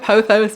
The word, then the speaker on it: Pothos: So we're gonna go with Pothos because that's what I hear and that's what I feel is the right way to say it.